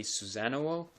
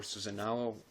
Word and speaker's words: Susanowo: With Bujins, you'll mostly be playing their Exceed monsters, and the main Exceed monster is Bujintei Susanowo, or Susanoo, however you want to pronounce it.